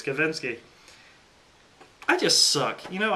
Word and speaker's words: Kavinsky: I said his name wrong 1,000 times in that review. It's Kavinsky.